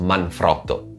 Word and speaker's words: Manfrotto: this week we have manfrotto which by the way should be pronounced manfrotto as that was the last name of its italian founder but anyway this week